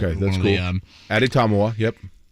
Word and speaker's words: Adetomiwa: Ade Tomiwa. Okay. Tommy is definitely like a big part of one of the syllables. Okay, that's cool. Addy Tomiwa, yep.